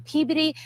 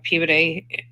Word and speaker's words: Peabody: So here's this article right here, FBI search Peabody. I know it's not Peabody, it's Peabody is how they pronounce it, I believe.